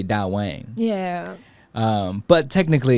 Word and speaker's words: DAWANG: so you know, like where to do the da and where to say the wong.